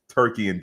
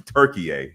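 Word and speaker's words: Türkiye: club which nothing against turkey and den turkey turkey a my bad new pronunciation turkey a and Denmark but Manchester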